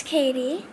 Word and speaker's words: Caddy: It's Katie. It's spelled Caddy.